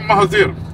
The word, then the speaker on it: Mahathir: I'm Mahathir. Mahathir. Yes. Okay. It's same pronunciation like our ex-prime minister.